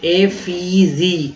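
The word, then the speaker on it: effigy: तो ए, ठीक है, एफीजी, एफीजी, ई नहीं पढ़ेंगे, एफीजी, यहाँ पर ई का उच्चारण ई की तरह नहीं, ए की तरह किया गया है, ठीक है।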